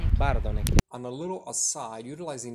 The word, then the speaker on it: Bardonecchia: Don't say Bardonecchia. How do you say? Bardonecchia.